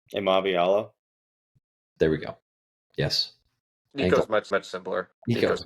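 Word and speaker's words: Iamaleava: Does anybody know how to pronounce his last name? Amaviala.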